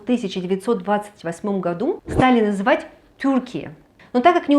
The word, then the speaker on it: Türkiye: Но так как не у всех есть раскладка немецкого либо же турецкого языка, все-таки Турцию будут называть вот так – Тюркия, что в принципе более схоже по звучанию с турецким произношением слова Турции.